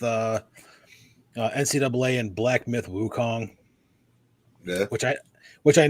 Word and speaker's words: Wukong: pronounce that sun and Wukong is spelled the way it sounds so but we we